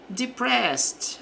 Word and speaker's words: depressed: Então, aqui é felt depressed. Aqui o ed vai ter som de t devido à terminação em s aqui do da palavra depressed, né?